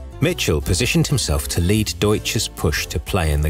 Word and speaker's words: Deutsche: cowboy these financial gunslingers had to be trained to correctly pronounce deutsche apparently they've been telling people they worked at douche bank the americans also instilled